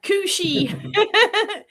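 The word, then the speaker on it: Cù-sìth: Yeah, Cooshie. Anywhere you see Sith, it's she. I would have said Sith.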